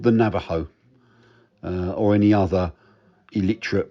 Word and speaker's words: Navajo: I know the uh the manufacturer used it for some reason called it na naaj Joe which always strike me as a bit odd but it was his